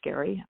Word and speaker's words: Gerry: Just type in his name, Gerry, yes, but it's pronounced Gary Barker.